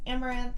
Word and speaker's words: Amouranth: hey guys I'm Caitlyn My Stream name is pronounced amaranth and I stream every